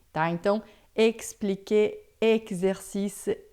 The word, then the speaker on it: exercice: Então, todas as vezes que você vê o X em francês, é sempre som de xi, tá? Então, expliquer, exercice, examen, texte, tá?